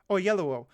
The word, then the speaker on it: Oyelowo: How's it pronounced? Oyelowo.